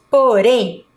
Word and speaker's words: porém: Vamos agora para a palavra porém. Porém. Qual que é a sílaba mais forte? A sílaba rem.